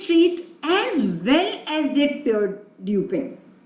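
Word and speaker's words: Pierre: नो वन new this street as well as डिड पियर ड्यूपिन. अब ये हम प्रोनाउंस करेंगे प्योर, राइट.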